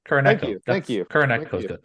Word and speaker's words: Kuroneko: Since we all know I can't pronounce that. What is it called? Kuroneko? Kuroneko.